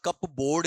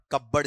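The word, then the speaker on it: cupboard: इसका उच्चारण कप बोर्ड नहीं होगा। क्या होगा? कपबर्ड। कबर्ड सीधा बोलेगा आपका।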